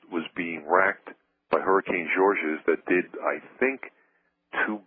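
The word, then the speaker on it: Georges: to pronounce it right it's George's it's not George it's hurricane George's its Alabama and it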